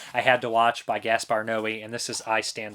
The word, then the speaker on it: Gaspar Noé: Now let me know, guys, I've always heard it pronounced Gaspar Noé. Some people say Gaspar No. I would say Gaspar Noé, but that's me.